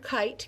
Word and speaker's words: kite: her remember it so the first vowel in kite is long and the second vowel is silent so that second vowel is what makes that first one long but it's quiet it